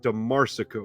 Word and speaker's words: DeMarsico: I always second guess myself. It's DeMarsico, right? I'm saying it right every time? Nailed it, man.